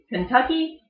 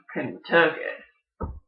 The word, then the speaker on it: Kentucky: will hear people say everyone else pronounces pronounces it's Kentucky people from that area call it kinda took it you will also hear